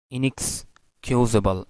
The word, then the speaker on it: inexcusable: on the second word Red Riding Hood then inexcusable inexcusable inexcusable you might have noticed in this